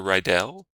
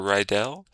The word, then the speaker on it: Ryell: Ryell or Professor Ryell. That's the way to pronounce it that I'm used to. It's apparently not right if you're German, but I'm not German.